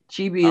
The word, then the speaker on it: chibi: giant ass body pillow cheapy cheapy is that pronounced right yeah chibi is the type of